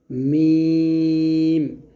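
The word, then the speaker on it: ميم: Calf লাম আরেকটা হবে মিম মিমটা দুই ঠোট মিল করে বলব তারপর এটা হবে নুন।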